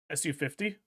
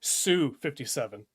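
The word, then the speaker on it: Su-57: Um I'm sorry, Sue 57. That is the correct way to say to say that uh prefix, but I I always incorrectly said it, SU.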